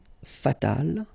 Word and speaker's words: fatal: And then fatal, feminine form, you just add this final but then phonetically it's the same, fatal.